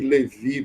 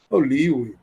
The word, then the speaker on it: Lewy: Assim, corpo de Levi, porque ele era alemão, né? O nome do Lewis, como os ingleses pronunciam.